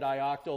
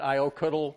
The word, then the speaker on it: ioctl: I've always called it "ioctil." That's how I was taught. Some people like to call it "iocuttle".